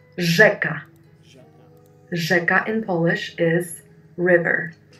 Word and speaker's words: rzeka: And the last one is Ż, R-Z, Ż, like rzeka, river in Polish, rzeka, Ż.